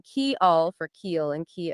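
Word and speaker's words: kial: understand it right but k i a l that would be Y in Esperanto is pronounced key Al and k i eel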